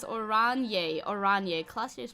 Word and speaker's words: Oranje: Oranje is Oranje.